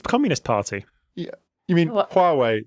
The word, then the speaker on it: Huawei: Communist Party for inadvertently slating Huawei? or I think the British government have done that enough, haven't they? Like, Sorry, which company? Huawei. The Chinese Communist Party. You mean What? Huawei, not who are we?